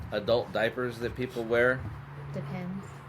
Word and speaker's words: Depend: diaper itself doesn't have I've always referred to it as depends also but it is actually depend if you they pulled up the the commercial on it and it and she said it has depend interesting yeah nobody nobody